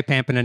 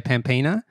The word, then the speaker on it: Pampena: you pronounce it correctly i do say pampana now but there isn't a consensus in my family so some people say pampana some people say pampina it's one of those